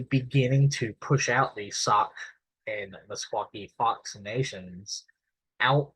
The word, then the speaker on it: Sauk: section the migration of the sock uh or sack uh as I've also heard it pronounced uh and msaki fox